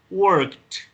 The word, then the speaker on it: worked: Y se pronuncia worked. Worked. ¿Sí? Como con una T al final.